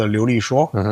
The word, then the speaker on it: Liulishuo: So, the the the the product name is always being Chinese called Liulishuo, which basically means um speak speak fluently.